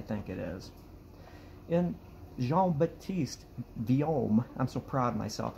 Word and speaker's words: Vuillaume: was a person by the name of Jean-Baptiste Vuillaume. V-U-I-L-L-A-U-M-E, I think it is. And Jean-Baptiste Vuillaume, I'm so proud of myself, I looked up on the Googles, how do you pronounce Vuillaume?